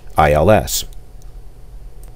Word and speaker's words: ILS: from the East note the ILS approach is never spoken by the letter such as India Lima Sierra it is pronounced ILS I will give that